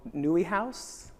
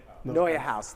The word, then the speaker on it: Noya House: Up LA event at I always say it wrong. Nui House? Noya House. Thank you. See, I said it wrong again.